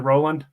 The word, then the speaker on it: Rowland: on thanks for coming on it did I pronounce it right is it Roland you did yep all right awesome um so